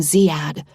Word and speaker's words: Zad: I pronounce his name Zad, like I heard his mom say, slapping his chest.